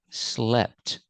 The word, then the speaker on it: slept: In the past, slept. The E makes a short sound like eggs and 10. Slept.